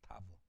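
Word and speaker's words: תָּו: 맨 밑에 타우가 아니라 타브라고 발음하죠. 타브.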